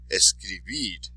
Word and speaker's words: escribir: When words end in a consonant, except for N or S, because we already covered N or S, so consonants except for N or S, place the stress on the last syllable.